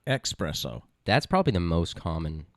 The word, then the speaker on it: espresso: It's espresso, not espresso.